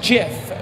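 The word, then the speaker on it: GIF: if is a looping image late video is pronounced jiff we change it we change it to sift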